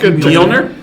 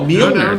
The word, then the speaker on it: Mjolnir: You pronounced Mjolnir?